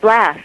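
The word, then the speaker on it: Blass: reading it was uh wolf blast or Bloss how do you say it from Australia that's right blast yes from um one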